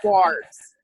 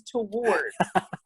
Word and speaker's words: towards: I pronounce the O in towards. They all tell me that the O is fucking silent, and it's pronounced twards. It's not twards. It is not twards. It is towards.